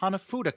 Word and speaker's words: hanafuda: played with cards yeah hanafuda is Hana Fuda yeah and uh of course I wouldn't expect Blake to go into a complete history of card games in Japan but hanafuda was actually developed several